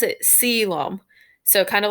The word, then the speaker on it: coelom: called a column so coelom is actually spelled c-o-e-l-o-m but you pronounce it siloam so kind of like salem but selam but